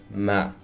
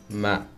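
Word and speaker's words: mà: Tone number two, which is ma, ma. So you start off pretty low and there's a falling tone, ma. That means but or however, ma.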